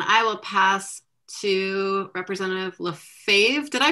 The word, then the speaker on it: Lefebvre: It's Lefebvre.